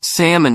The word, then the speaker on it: salmon: Parker, kindly pointed out that my version of comfortable sounded more like comfortable, and I was convinced salmon had an L that needed to be pronounced.